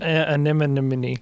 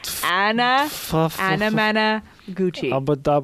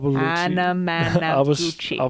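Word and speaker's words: Anamanaguchi: you just listened to was Prom Night by Anna Managuchi. Anna Managuchi. Anemone. No, not even close. It's not that hard to pronounce, Caleb. It's phonetics. Simple phonetics. Say with me. Anna Managuchi. Anna Managuchi.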